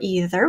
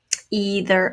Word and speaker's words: either: things separate and separate either or either whichever way you say that either either we've got the